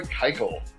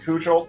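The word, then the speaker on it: Keuchel: and one with a 395 against my boy kyel one and0 with a 129 ra and those of you know I love watching the Kyle all day long um I know everybody wants to pronounce it Cel but I went back and I checked and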